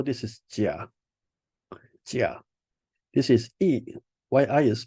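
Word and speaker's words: 乙: This is E. Why I is pronounced as E.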